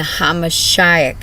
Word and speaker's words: HaMashiach: You are reducing the Messiah, the Hamashiach is how you say it, his name to swine.